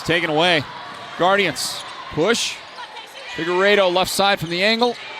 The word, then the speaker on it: Figueredo: you're an ALA fan, I was told that it's Figueredo.